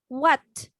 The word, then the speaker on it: what: হোয়াট না, হ এর উচ্চারণ করা যাবে না। হোয়াট, হোয়াট O, happened?